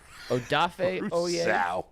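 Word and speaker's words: Odafe Oweh: Eric Stokes, Gregory Rousseau, Odafe Oye. That's how you pronounce it.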